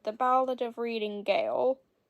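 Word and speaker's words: gaol: The Ballad of reading Gale it's spelled g-a-o-l for those of you who don't know 1898 about the cruel conditions he experienced in prison Gale is the prettiest British spelling for jail free is from the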